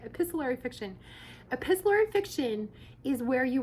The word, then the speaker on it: epistolary: to do something called let's see if i say the name right epis let's see a pistol tori epistle epistlery fiction epistlery fiction i think that's how you say it epistolary fiction epistlery fiction is where